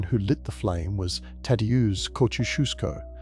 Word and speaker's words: Tadeusz Kościuszko: The man who lit the flame was Tadeusz Kościuszko, pronounced Ta, Dea, Ush, Kush, Kuf, Ku.